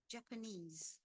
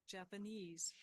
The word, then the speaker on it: Japanese: let's just confirm that Japanese Japanese yeah you'll notice that the ease gets most of the stress all right going back